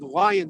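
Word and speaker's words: Lyon: We're now coming up on a street called Lion Street. It's spelled L Y N. Now that probably should be pronounced Leon, but in San Francisco we say lion.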